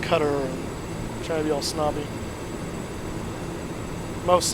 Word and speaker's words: Qatar: the Olympics talking about how it's actually pronounced cutter try the old snobby